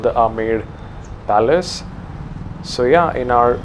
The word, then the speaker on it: Amber: or the armed fort it's spelled as amber or umber but it's called ahmed so yeah from